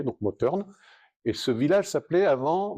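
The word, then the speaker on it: Mothern: la mer effectivement mais en alsacien le TH se prononce t donc motne et ce village s'appelait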